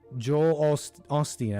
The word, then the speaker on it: Osteen: So I thought you said that was Osteen that was talking before. That was a video from Joel Osteen, I believe.